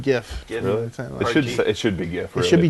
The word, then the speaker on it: GIF: jiff you for that i like that you pronounce it jiff because that's the actual proper pronunciation yeah is it but i've always said gif it should it should